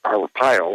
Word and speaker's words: Arpaio: jor uh jill or arpaio i believe that's how you pronounce his name yes just announced the